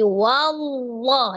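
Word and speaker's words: والله: lam menjadi huruf wau tapi wallah ya bukan wau loh disempurnakan dulu pengucapan huruf wwnya dengan memajukan kedua bibirnya wa wallahu lanya dibaca Dua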